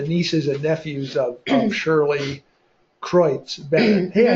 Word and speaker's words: Kreutz: Well, in the description of the program today, we mentioned that the nieces and nephews of Shirley Kreutz Bennett, hey, I said it right.